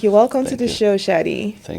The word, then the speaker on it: Shadi Musharraf: Everyone, welcome to the podcast, Shadi Musher. Did I pronounce that right? Yeah, that's right. That's right. All right. Thank you. Welcome to the show, Shotty.